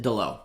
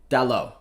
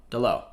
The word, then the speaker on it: Dalot: it's all goes um i remember watching an ac mod video that pronounced it dilo i'm trusting you my man you're right it's more like dallo d'lo all right we're gonna